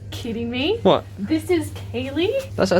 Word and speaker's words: Ceilidh: That is Kaylee. That right there is Kaylee. Yeah, what do you think it looks like? There's a D in there. The D is silent. It looks like sealed.